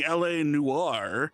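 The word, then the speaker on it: L.A. Noire: I'm going to introduce to you running LA Noir. That is how you say that name, that word. I heard it pronounced something weirdly the other day by somebody not in this event, but something weird.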